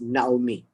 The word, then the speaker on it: Naomi: now me or not me so we will pronounce it as naomi right that also tells us a story that